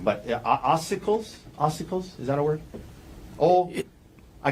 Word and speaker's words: ossicles: Okay, I guarantee I'm going to pronounce some medical words wrong, but ossicles, is that a word? I can't even pronounce it close enough for you to recognize it. Ossicles.